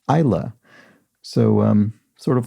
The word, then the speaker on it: Isla: delev who explains that the name i incorrectly pronounced as isla fisher isla should be pronounced isla so um sort of like the scottish region